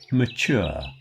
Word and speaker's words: mature: But not mature. Mature has the stress on the chure, so it's longer than it is in nature.